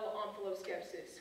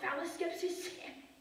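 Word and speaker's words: omphaloskepsis: you got offal skepsis can't that off be pronounced um f skepsis it can that would be wrong onos skepsis o m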